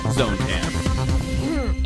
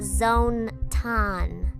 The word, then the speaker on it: ZONE-tan: now for your host the one and only zonan it's pronounced Zone ton fine now for your host the one and